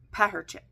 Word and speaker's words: Perchak: It is Perchak.